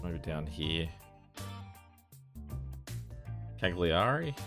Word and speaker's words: Cagliari: it's maybe down here cagliari is how it's pronounced we're the biggest one